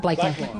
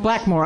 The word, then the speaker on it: Blackmore: Did I say that right? Blakemore. Blackmore.